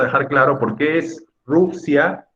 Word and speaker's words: Rusia: Entonces, ¿es Rusia o es Rusia? Creo que está claro, ¿no? Es Rusia. La sílaba tónica es Ru.